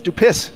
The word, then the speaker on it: Dupuis: your last name's Dupuis. Yeah. It's Dupis. Say it right.